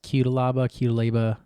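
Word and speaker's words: Cuțelaba: I've heard his name pronounced a couple ways. QUTELABA. I'm going to go ahead and say QUTELABA.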